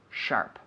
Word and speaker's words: sharp: So the P is very hard, right? The P is actually kind of a sharp P.